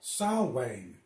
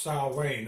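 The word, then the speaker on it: Samhain: ancient Celtic ritual or holiday it's actually called salwang it's spelled Sam Hayne but it's pronounced Sal Wayne it's basically an ancient Celtic holiday celebrating life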